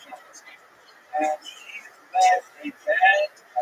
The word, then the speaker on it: Chmielnicki: his name in literature spelled with a CH, as a Polish spelling, pronounced Chmielnicki.